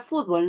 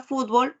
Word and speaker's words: fútbol: consulta igual la palabra fútbol No yo la la palabra fútbol puedo pronunciarla fútbol o fútbol cualquiera de las dos pero ese cambio de